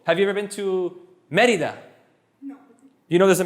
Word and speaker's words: Mérida: It's Mérida. I mean, people will understand you. The taxi driver won't go, I'm not bringing you. You didn't pronounce it correctly. There's an accent on the E.